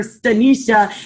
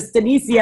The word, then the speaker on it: Stanicia: And I learned something new today because I always call her Stanisha instead of Stanicia, and I always thought Twyla was saying it wrong.